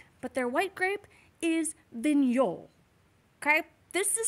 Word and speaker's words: Vignoles: you have watched but their white grape is vignol okay this is spelled like vignoles but it's pronounced minol okay vignol now this is a very versatile